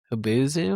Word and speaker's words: Hubzu: Hubuzu? Is that how you say it? You had to go to a website and do bidding. Hubzu? And Does it say in the description? HUBZU. Hubzu.